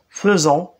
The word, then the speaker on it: faisons: vert faire nous faisons ça s'écrit fait don mais ça se prononce faisons c'est de bien faire